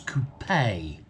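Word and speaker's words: coupé: the e type coupe coupe is where you keep chickens a coupe is the car it has an e on the end it's coupey it's like porsche and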